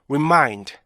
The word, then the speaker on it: remind: 이거를 remind 이렇게 발음하시면 안 돼요. remind 이게 아니고요, remind, remind 이렇게 발음하셔야 되는데 우리나라 사람들은 맨 앞에 게 가장 길어져요. 그래서 어떻게 돼요? remind 이렇게 되는 거죠. 그래서 처지게 돼요. 그래서 맨 처음에 나오는 모음을 강세를 못 받기 때문에 길어지지 않도록 하셔야 돼요.